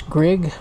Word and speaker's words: Grigg: lot yeah yeah it's greg rhymes with big and so well it's